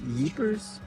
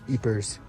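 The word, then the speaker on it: Ypres: to pronounce this place I think it's yers it's pronounce it's spelled y p r s so gers eers I think the person yesterday at the VR experience said eers so go with that as you hopefully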